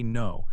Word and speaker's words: know: Sometimes K is silent, especially when it is at the beginning of a word and is followed by N. Take the word know. You write K-N-O-W, but you say no.